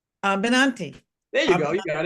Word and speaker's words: Abinanti: abinanti is the sorry I mangled your name abinanti it's a simple name abinanti there you go you got it okay when